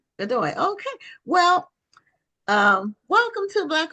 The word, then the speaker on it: Godoy: So your last name is pronounced Godoy? Yes, Godoy. Godoy.